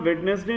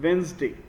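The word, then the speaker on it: Wednesday: ऑन वेडनेसडे बाय नहीं इसे हम वेडनेसडे नहीं प्रोनाउंस करते हैं इसे हम प्रोनाउंस करते हैं वेनसडे बी साइलेंट रहता है वेनसडे बा द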